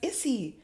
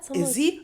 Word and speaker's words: Izzy: I'm like, "Isy? No, Izzy." I'm like, "No, just with an S."